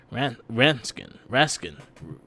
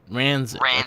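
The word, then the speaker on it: Ransik: every single criminal except Raskin. I can't say Ranzik. That's how you say it. Ranzik.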